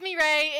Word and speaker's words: Mireille: It's Mireille. It's a French name. I know it looks really confusing on paper.